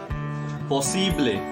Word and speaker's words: posible: spanish possible we say posible possibly focus on the pronunciation don't say like possibly don't extend it at the end simply say possibly and